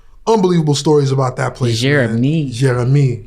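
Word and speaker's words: Jérémie: Jeremy. Yes, that's how they say it there. Like nice and French. Jeremy.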